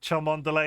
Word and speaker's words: Cholmondeley: You missed that Cholmondeley is pronounced Chumley.